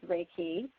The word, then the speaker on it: Reiki: so what is raiki raiki is pronounced exactly how it's exactly how it sounds raiki um it is Energy